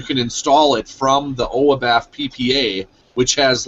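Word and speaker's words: oibaf: can actually enable a ppa uh it's by oabaf it's spelled o i b a f just google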